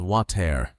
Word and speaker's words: water: Many learners, especially those who study British English, try to pronounce it as water with a very clear t sound. That's correct in British English. But in American English, the T changes into a soft D sound.